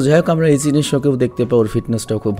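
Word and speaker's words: 一之瀬: ওর নাম কি রে ভাই? ইচিশো নাকি, আমি উচ্চারণ করতে পারছি না, দাঁড়াও আমি চেক করে আসি। ওর নাম হবে ইচিনিশো। জাপানিজ ভাষায় ওর নাম হচ্ছে ইচিনিশো।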